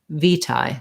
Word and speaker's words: vitae: american version curriculum vitae vitae curriculum vitae so the overall stress on the phrase the main stress is on the v v tie curriculum v tie um yeah okay so